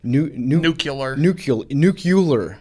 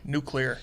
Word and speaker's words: nuclear: Nuclear sub? Nuclear. Nuclear. No, it's nuclear. He's right.